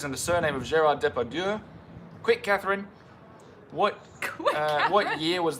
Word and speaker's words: Depardieu: That's how it's spelled. Depardieu. Depardieu.